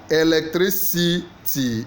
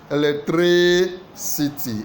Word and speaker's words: electricity: de democracy is democracy the stress pattern for electricity electricity is what is on the on the TR r i three electricity electricity so three is the one we stress C question number